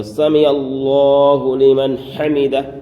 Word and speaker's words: سمع اللہ لمن حمدہ: زیادہ غلطی ہوتی ہے۔ تو سمع اللہ لمن حمدہ، یہ ہے صحیح تلفظ، سمع اللہ لمن حمدہ۔ اب کیا ہوتے ہیں؟